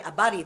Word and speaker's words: habari: as how are you habari abari that why silent h Pala Sila B gani